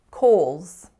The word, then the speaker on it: Kohl's: next up we have Kohl's Kohl's this one's actually kind of tricky so it's spelled Koh L apostrophe s but we actually only have four sounds in this word so the first consonant